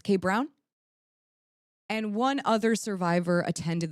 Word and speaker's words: Kay Brown: It's Kay Brown.